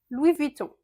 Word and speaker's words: Louis Vuitton: Louis Vuitton. Louis, on ne prononce pas le S. Vuitton.